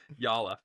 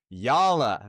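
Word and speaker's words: Jalla: Which means the j would be pronounced as a y.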